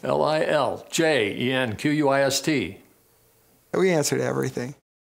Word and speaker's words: Liljenquist: It's pronounced Liljenquist. Liljenquist.